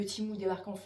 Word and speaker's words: Temu: c'est pas Temu, je ne sais quoi, c'est Temu, c'est la marque elle-même qui le dit, donc ça se prononce Temu.